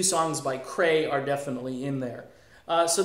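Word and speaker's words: Creye: So again, Cray, it's spelled C-R-E-Y-E.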